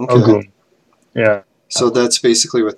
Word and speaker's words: Ogun: Shango and Ogun and Ogun is how you pronounce it. Okay. Ogun.